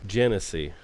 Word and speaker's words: Genesee: Genesee. The Genesee River. Genesee River. And that's how you pronounce it, folks.